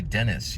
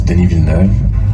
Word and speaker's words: Denis Villeneuve: You don't even say Dennis, you say Denny.